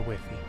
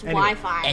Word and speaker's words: Wi-Fi: is a wiffy yeah that is not a whiffy it's pronounced Wi-Fi it's not a wimpy you know so okay